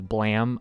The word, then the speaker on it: Blame!: Now I know somebody's already probably commented it, and I know it's also, I'm pretty sure the actual pronunciation is Blam. There's an E there, I'm sorry. It's Blame with an exclamation point.